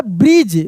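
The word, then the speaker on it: bridge: आई डी जी ई देखिए यहां पे डी को हम लोग पढ़ रहे हैं। नहीं ना पढ़ रहे हैं। लिखा है लेकिन पढ़ नहीं रहे हैं। हम लोग इसको क्या पढ़ रहे हैं? ब्रिज और जी ई लिखा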